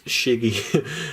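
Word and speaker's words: Schiggy: you got the squirtle i believe in german it's shiggy you know the reason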